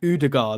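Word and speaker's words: Ødegaard: Scottish yeah I'm also getting stick off my pronunciation of Holland that Holland and udagar that's how or udagar that's how he's supposed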